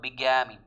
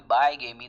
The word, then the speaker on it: bigamy: Bigamy. इसको by. The word is by, that means two, but the sound, the pronunciation of this word will not be bigamy, that would be bigamy.